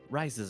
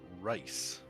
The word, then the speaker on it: R.I.S.E.: arrival, as well as R.I.S.E.'s arrival at one of our compounds. Pretty sure they're pronounced rise, not rice.